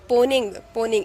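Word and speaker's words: Mponeng: Okay, और ये south Africa में किया गया है और उस माइन का नाम है पोनिंग, इसे एम साइलेंट है, पोनिंग।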